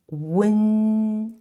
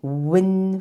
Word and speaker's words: wen: To pronounce this wen sound, we need to first produce oo sound and then quickly glide to say n. And make sure the air comes out from the nasal capacity because it's a nasal compound final.